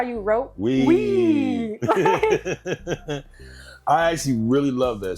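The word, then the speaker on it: Weee: Is we.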